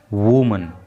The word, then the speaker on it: woman: लेकिन जब ये वर्ड होता है WOMEN तो ये प्लूरल नंबर में होता है और इसको पढ़ते हैं फिर वीमन। तो ये थोड़ा सा आप प्रोनाउंसिएशन का अंतर समझेंगे, वूमन और वीमन।